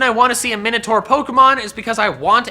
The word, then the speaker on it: Minotaur: Or as I've been told, it's actually pronounced Minotaur, but Minotaur sounds better, so we're sticking with that.